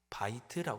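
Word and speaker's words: בית: 궁전 칼이라고 발음을 합니다 둘째는 집이라고 표현했습니다 바이트 발음을 합니다 셋째는 성소라 표현했습니다 코데쉬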